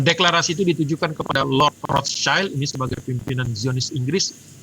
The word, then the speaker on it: Rothschild: Jadi waktu itu Zionisme mengandalkan proyek-proyek Rothschild ya, bacanya sebenarnya yang benar katanya Rothschild ya, karena SCHILD itu bukan child tapi bicara adalah shield dari bahasa Jerman kuno yang artinya ya shield kalau kita sekarang bahasa Inggris itu tameng.